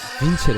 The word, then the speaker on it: Vincere: Hello everybody and welcome to the first episode of Vincere. Yes, that's how it's pronounced.